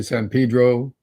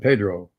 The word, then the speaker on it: San Pedro: We say San Pedro, and we say. Why do they do that? Just to be annoying? It's just an old way of pronouncing Spanish words that got stuck in.